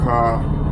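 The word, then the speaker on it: χάραγμα: Pronunciation is Ka-Agma. K-H-A-R with a apostrophe. And dash A-G and dash M-A-G. I mean M-A-H.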